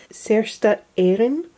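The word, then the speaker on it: Saorstát Éireann: say this completely incorrectly, Sersta Éireann, I believe is how you pronounce that, which means Irish Free State.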